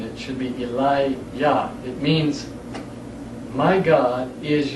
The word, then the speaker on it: Eliyah: For those of you that are not familiar with the word Eli-Yah, most people say Elijah, E-L-I-J-A-H. But the Jah is not proper pronunciation. It should be Eli-Yah.